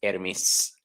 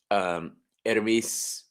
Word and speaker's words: Hermes: Now it's pronounced Hermes. Yes. Hermes is closer to the way it's supposed to be pronounced.